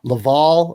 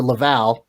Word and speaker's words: Laval: and Springfield dual goalies, and Laval, of course, or Laval. I've been pronouncing it wrong this whole time. Laval riding Caden Primeau, riding him and riding him and riding him some more.